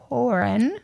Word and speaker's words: Pohren: right so we have Deputy MH MH porin that's me okay I didn't I was going